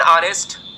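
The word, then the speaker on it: honest: यानी जो हा होता है ना यह साइलेंट होता है। अब यहां से क्वेश्चन हर बार पूछा जाता है। अब किस तरीके से क्वेश्चन पूछा जाता है कि एन ऑनेस्ट भाई हनेस्ट तो थोड़ी ना पढ़ेंगे।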